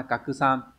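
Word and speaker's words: 拡散: Và số 4 là chữ Hán là kakusan, là khuếch tán, cũng không phải.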